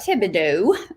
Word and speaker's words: Thibodeaux: So I'm Thibodeaux. The H is silent.